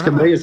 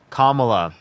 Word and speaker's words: Kamala: What's Camilla's concepts? Kamala. If you say her name wrong one more Kam- time, I'm going to kick you from my stream.